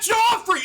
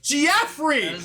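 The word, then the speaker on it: Geoffrey: It's Jeffrey. His name is Jeffrey. Not Joffrey. It's spelled G E O F F R E Y. It's not J O F R E Y. It's Jeffrey.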